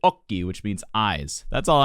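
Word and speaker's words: occhi: say one he says ochi because the word is spelled o c c h i but in italian you pronounce it okie which means eyes that's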